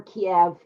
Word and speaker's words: Kyiv: Yes, it's pronounced Kyiv or Kiev in the United States.